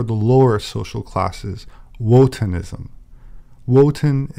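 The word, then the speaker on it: Wotan: lower social classes wotenism woten is the german pronunciation of odin liszt claimed that the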